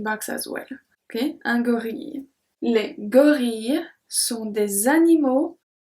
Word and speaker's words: gorille: So here I pronounce I-L-L-E, I pronounce like a long I. Un gorille. We don't say un gorille.